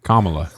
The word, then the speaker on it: Kamala: it's not going to be a good time Kamala you know but KLA Harris say it right she's your vice president